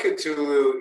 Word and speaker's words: Cthulhu: I believe there was the blood of, and I don't want to mess up the last name pronunciation. So how do I say that? Well, the blood of Cthulhu is actually 9.5.